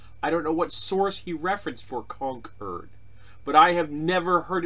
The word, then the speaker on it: Concord: thinks we've called the capital of my state Concord when it's pronounced Concord so that makes me think how many other